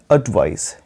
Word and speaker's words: advice: ADVICE इसका spelling है, इसका उच्चारण है एडवाइस, यानी आधा अ, ये उल्टा ई की तरह देख रहे हो।